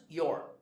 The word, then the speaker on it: you're: It's pronounced your.